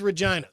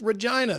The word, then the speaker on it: Regina: It is Regina. That's the way you pronounce that word. They changed it to Regina so it didn't sound so much like vagina. Or like a woman's name. It's Regina.